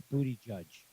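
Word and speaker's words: Buttigieg: If you put a space into that and then ask one of your devices to pronounce Yeah, it, to translate it for you. it's booty judge Yep, he is the booty judge.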